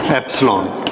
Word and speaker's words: epsilon: हाउ इट is pronounced? Epsilon.